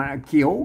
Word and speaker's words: เขี้ยว: ได้ สาม เสียง มัน เขียว เขียว เขว เห็น มั้ อ่าน ได้ 3 เสียง ม น่ะ แต่ เวล อัน อัน อยู่ ใน บริบท นี่ อ่าน ว่า เขี้ยว กิน น่ะ หู เขี้ยว กิน